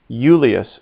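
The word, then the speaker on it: Iulius: boy says julius soom yulius assume notice how that spell that's i u l i u s and often when i comes first in latin it makes a y sound euless so again repeat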